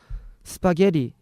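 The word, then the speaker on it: spaghetti: 그냥 그냥 스파게티 있데 영어로는 그 개의 개를 세게 발음해서 스파게리 이렇게 말해야 되는데 제가 스파게리 이렇게 얘기했나 이랬다가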